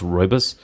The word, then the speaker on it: rooibos: us I think it but is pronounced rooibos and it has like